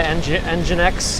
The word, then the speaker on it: nginx: a reverse proxy via engine X nginx nginx I think they pronounce it proxy manager and now